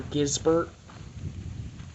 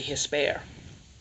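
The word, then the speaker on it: Gispert: And I thought they were Gisbert, but the actual G and the T are silent in Spanish. So it's actually Hisper.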